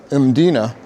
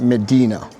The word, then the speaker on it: Mdina: One thing I want to make clear is the pronunciation of the place is Mina and not Medina.